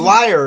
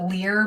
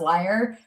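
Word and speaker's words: lyre: a liar isn't it i've always pronounced it lear because like that's how i always read it to myself and i it's one of those it's like gif versus gif i've never been able to i know it's supposed to be pronounced liar but i read it lear for so long before realizing how it was pronounced that i like can't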